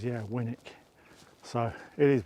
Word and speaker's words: Winwick: was crossing the field if you think of Warwick it's just w-a-r and wick on the end and we pronounce that Warwick so this has to be winick job done worked it